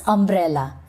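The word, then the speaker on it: umbrella: Now look at this image and pronounce करो इसे क्या कहते हैं? अंब्रेला या यंब्रेला। Of course it इज़ अंब्रेला।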